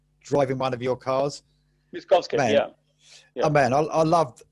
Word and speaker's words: Miskovsky: Let me pronounce this right. Miskovsky's Driving One of Your Cars. Miskovsky, yeah.